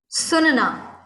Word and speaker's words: सुनना: And what is the correct pronunciation? Sunna. Sunna. Sunana is a different verb.